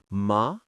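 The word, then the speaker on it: 马: A great example is ma, which means horse. When spoken slowly, you dip down and rise back up. But in natural conversation, it becomes a low stable tone.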